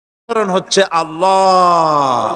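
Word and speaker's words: الله: হচ্ছে আল্লাহ পাকের নাম উচ্চারণ হচ্ছে আল্লাহ মুখটা একটু গোল হয়ে যাবে বলেন আল্লাহ আল্লাহ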